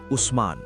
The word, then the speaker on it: উসমান: ওসমান নামটি এসেছে সরাসরি ওসমানের নাম থেকেই, আরবিতে যার উচ্চারণ উসমান।